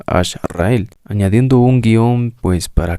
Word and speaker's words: Ash-Rael: Ecuador eso podríamos decir la razón por la cual se pronuncia Hash rael y no Hash rael es porque decidimos usar una pronunciación un poco al Castellano la H es muda en en el Castellano por lo tanto no se lee hasra sino ashra y añadiendo la palabra el Entonces sería Ash rael añadiendo un guion pues